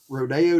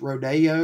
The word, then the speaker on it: Rodeo: mr holland on it not sure why it's pronounced rodeo rather than rodeo since it's spelled like rodeo but i guess rodeo just sounds a little more uppity i don't know it's